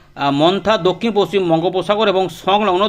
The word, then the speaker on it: Montha: যে cyclonic Sturm মন্থা যেটা উচ্চারণ করা হবে মন্থা এমও এন টি এইচ এ মন্থা এটা দক্ষিণ পশ্চিম বঙ্গোপসাগর